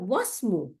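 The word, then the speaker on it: وَاسْمُ: হ্যাঁ, ইসমু, দেখেন আবার ওয়াসমু, এই আলিফটা উচ্চারণ হয়নি কেন, এই হামজাতুল ওয়াসল উচ্চারণ হয়নি। আমরা জানি যে হামজাতুল ওয়াসলের সামনে যদি কিছু অক্ষর থাকে তাহলে এটা উচ্চারণে আসে না, কিন্তু লেখায় থাকে, তাই না?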